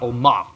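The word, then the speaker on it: עלמה: So in Hebrew, a young woman is an Alma. Everyone say Alma. Well, Alma, good Sephardic pronunciation.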